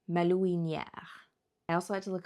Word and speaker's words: malouinière: For example, I did have to look up quite a few words here, like malouinière. I also had to look up the pronunciation of it, malouinière.